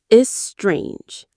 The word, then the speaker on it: estrange: Let's pronounce it together. Is strange. The stress falls on that second syllable.